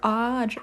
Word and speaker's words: Audrey: There's only one person who pronounces it like a, okay, but Adri as Adri or Audrey. Ooh, Audrey. Audrey with an A-U.